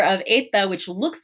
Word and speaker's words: eta: Eta is, this is a long E sound. So in Latin, our long E, right, with that line over that micron, is an A sound. So this is more of an A sound.